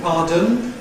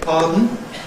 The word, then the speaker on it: pardon: London children increasingly seem to say pardon, where London adults, at least at my age, say pardon. The 2 are equivalents, very clearly.